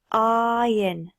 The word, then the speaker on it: iron: Tu remarques que le R ne se prononce pas. Iron.